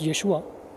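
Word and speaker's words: ישוע: In Hebrew, many pronounce the word as Yeshua.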